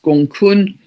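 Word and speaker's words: Gonggong: Um, we also have the dwarf planet Gong which I squeezed in which is spelled all one word gong um spel pronounced gongun six degrees of Pisces very tightly conjunct the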